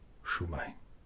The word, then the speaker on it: Shwmae: Shumai. Say it again. Shai.